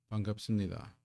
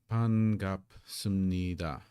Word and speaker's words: 반갑습니다: Here we have, if we were to pronounce each of these syllables in 반갑습니다 by itself, we would get ban, gap, sup, ni, da. But when we get sup,